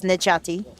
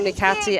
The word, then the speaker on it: Necati: My pronunciation of his name was corrected in Kaunas I and know. again here. So now we know it's Necati.